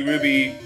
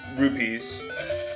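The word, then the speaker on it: Rupee: and get those 30 Ruby tokens over and over and over again or rupe sorry I'm just pronouncing it too fast I know it's rupes but yeah I mean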